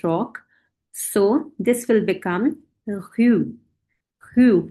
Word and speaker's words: rue: So this will become rue.